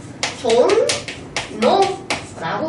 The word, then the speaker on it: 종로: 첫눈 첫눈 그리고 종로 종 노라고 우리가 발음을 하고요 백노 노라고 발음을 하게